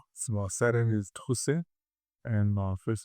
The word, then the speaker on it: Trousset: Please pronounce your own surname so that I understand as well. My surname is Trus and my first name is.